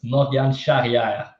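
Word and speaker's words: Morgane Charrière: Miranda's plus 550 firstly can I hear someone with French Roots pronounced Morgan sharier please everybody got wrong then it's moan Shaha but it's not an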